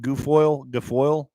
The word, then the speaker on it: Guilfoyle: Guilfoyle.